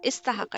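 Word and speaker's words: استحق: Istahaqa. It's pronounced as istahaqa. The kasra is under the alif sin has a sakun on it.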